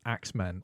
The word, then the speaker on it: X-Men: The play is called X-Men, but I think it's supposed to be pronounced Axemen.